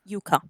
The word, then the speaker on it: Yuka: Who's here says Uka instead of Yuka? The player has actually verified that the name is pronounced Yuka. Oh, okay. Oh, now we know. All right, so it is officially Yuka.